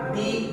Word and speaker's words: the: হি কাট দি Apple with দা knife. তাহলে এখানে কি দাঁড়াচ্ছে তোমরা নিজেরাই উচ্চারণ করে দেখো।